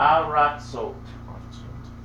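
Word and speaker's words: ארצות: Aratzot. Aratzot. Okay. So we've got a left silent letter, slighter sound, then a full patach.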